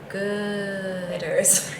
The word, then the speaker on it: Goooders: Wait, I want to say it correctly. The Goooders. With a lot of O's. So I think everybody should just remember that the Goooders has 3 O's, and I fell in